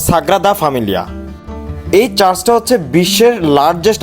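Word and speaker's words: Sagrada Família: সেরা ডেস্টিনেশন হতে পারে আমি দুঃখিত এতক্ষণ আমি ভুল উচ্চারণ করে এসেছি এটার উচ্চারণ মূলত সাগরা দা ফ্যামিলিয়া এই চার্চটা হচ্ছে বিশ্বের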